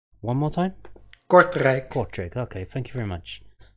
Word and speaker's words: Kortrijk: Kortrijk. One more time? Kortrijk. Kortrijk, okay, thank you very much.